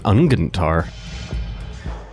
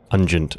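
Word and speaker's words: Unguent: Oh, this is more powerful than Ungentar. Shall we? I'm sure it's pronounced Ungent. Ungent, pungent. Yeah, you're right.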